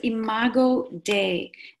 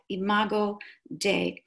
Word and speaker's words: imago Dei: you as well so the term is imago Dei and des is spelled dei imago Dei and the literal translation